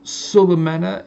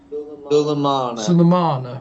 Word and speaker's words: Sulemana: Okay, AFC Bournemouth 3, Southampton 1, and Sulemena in the 72nd minute. Have I pronounced that right? Sulemena? Sulemana.